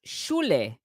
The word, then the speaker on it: shul: It's Yeah, it's pronounced a shul in synagogue. Mormonism, right? Like we pronounce it shul Ah, in reading the Book of Mormon, not shule.